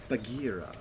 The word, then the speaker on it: Bagheera: Okay, and then we have Bagheera. Did I pronounce that correctly?